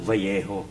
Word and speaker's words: Vallejo: pag double L, ang pronunciation niyan, Vallejo. Oh. Bakit Vallejo? Kasi double L eh.